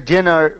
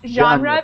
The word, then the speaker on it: genre: to understand H teacher uh what does a Jenner mean uh certain J uh C J what does it mean genre it's it's pronounced genre because it's it's origin a French word but